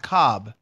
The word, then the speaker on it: Kolb: Kevin a little cold but it's pronounced Cobb yeah that's a scam